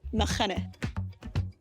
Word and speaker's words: Machynys: Further along down the coast, more west, you have Nghymru Golf Course, which, yes, is pronounced Nghymru.